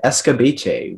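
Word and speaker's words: escabeche: served cold martha prepared escobache with crisply fried mackerel and pickled bell peppers in a sweet and tangy sauce and the only pronunciation is escobache can you please repeat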